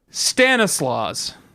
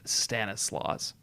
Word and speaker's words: Stanislaus: end or not, but I have elected to pronounce the S at the end of Stanislaus.